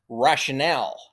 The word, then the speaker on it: rationale: The top one is pronounced rational. The bottom one is pronounced rationale.